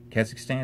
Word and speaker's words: Kazakhstan: say that cass cause kazakhstan kazakhstan is how you say that kazakhstan are you there